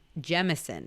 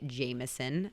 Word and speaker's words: Jameson: So I was corrected when I was over there that we as Americans say Jameson, but it is Jameson whiskey. So it's a low Long A or long E.